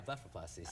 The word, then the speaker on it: blepharoplasty: Is that how you pronounce it? Yeah, blepharoplasty.